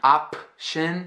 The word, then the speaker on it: option: I'm not saying option, and I'm not saying a-chin. Completely not saying the P. I'm almost saying the P, ending the mouth as if I were about to say the P, but then going right in the shin.